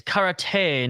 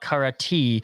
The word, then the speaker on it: karate: you just butchered karate it's karate not karate yeah well this is